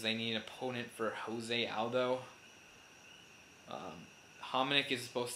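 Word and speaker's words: José: got the just mean or actually it's Jose mispronouncing because he's he's Brazilian, not Mexican.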